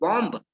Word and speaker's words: bomb: आपने पढ़ा होगा BOMB, है ना, तो क्या बोलते हैं आप इसको, बॉम्ब, बॉम्ब कहा जाता है।